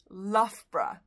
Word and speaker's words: Loughborough: It's just two syllables. It's Loughborough.